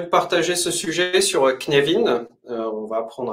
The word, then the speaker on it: Cynefin: les freelanceurs j'aimerais vous partager ce sujet sur kinévin on va apprendre à comment prononcer ce mot Gallois et aussi comment ça